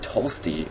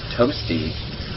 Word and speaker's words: Tolsty: And then in the top right we have Tolsty, or Toasty. That's how a Minnesotan would say it, Tolsty. Yeah, those are some Tolsty, eh? Let's go play some hockey. Or maybe a Canadian would say it like that. I'm not really sure, but Minnesotans say it like that too, because I say both, like with an L.